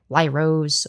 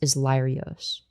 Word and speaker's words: Lyrios: Like nobody was able to pronounce Lyrios for some reason. Like they would be like Lyros, Leroy's, Leroy's. I think that the only other acceptable pronunciation is Lyrios.